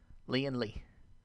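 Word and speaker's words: Leeandlie: she goes by the name Lee and Lee it's spelled l-e-e-a-n-d-l-i-e Leon Lee yes she started off doing anime covers first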